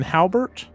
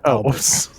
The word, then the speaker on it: Albert: So wait, is this a different Albert than Halbert? There's no Halbert. It's just Albert. There's only Albert. Sorry, my name is Albert. Very well, Halbert. No, it's fine. The H is silent.